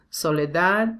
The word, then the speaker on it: Soledad: a sentence so first soledad is one of a song one of the words ending in d so this final d is not really common in spanish so we tend to omit it or say really soft soledad estoy cansado de